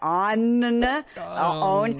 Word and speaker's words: onn: It's something called OWN, ONN. Like, how do you say that? OWN. Like, yeah, exactly.